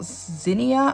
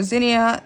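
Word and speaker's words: Zinnia: I did see quite a few people ask me about Zenia, I think it's called.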